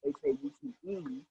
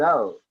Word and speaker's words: Haute: "Some Like It Hot," but I spelled it as Haute for fashion reasons, which is pronounced as haute, as in haute couture. So it's actually pronounced "Some Like It Oat."